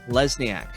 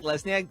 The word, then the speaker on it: Lesniak: Lesniack. Did I say that correctly? You got it, man. First time saying it, first time hearing it. Yep. Rhymes with Cadillac. That's how you know it's right. Cadillac, Lesniak.